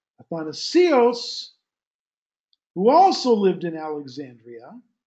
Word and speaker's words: Athanasius: The second guy, his opponent, Athanasios, commonly pronounced Athanasius, Athanasios, who also lived in Alexandria, serving as the 20th bishop of the church there.